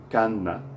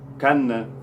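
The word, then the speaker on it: كان: Kanna. Kanna. When we say kanna in dialect, we just say kan. It's really short. When we pronounce it in formal Arabic, it's kanna, kanna.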